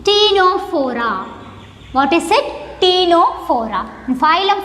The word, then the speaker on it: Ctenophora: Similarly, here the first letter is also silent. It is called Ctenophora.